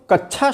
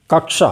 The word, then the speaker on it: कक्षा: निरक्षण निरक्षण मैं कक्षा कई लोग तो कथा शब्द का प्रयोग कर देते हैं नहीं कक्षा मैं कक्षा कि परीक्षा